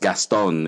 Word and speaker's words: Gaston: you pronounce my name very french here in the philippines it's phonetically it's just gaston it's about the way